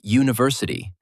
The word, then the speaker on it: university: And university starts with the letter U, but it sounds like university. That first sound is like the Y sound in yes. So, we say a university.